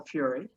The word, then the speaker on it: Fury: I also say Michael Fury. I have discovered that sometimes in the census his name is spelled F-U-R-Y and sometimes it is spelled F-E-R-R-I-E.